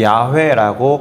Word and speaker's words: 야훼: 우리가 하나님의 이름이라고 알고 있는 여호와라고도 발음하고 야훼라고도 발음하는 그 단어, 그것이 사실은 I am으로 이루어진 단어예요. 이렇게요. I am who I am이라는 뜻이고 이스라엘 사람들의 언어 히브리어로는 야훼라고 기록하는 그 단어의 뜻이 I am who I am이에요.